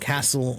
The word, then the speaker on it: castle: protective structure right so the word hustle and Castle have that same tle sound to them stle sound to them